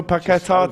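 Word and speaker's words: Paquetá: in again time for paqueta to bring it down is his name because the accent is on the a so it's actually uh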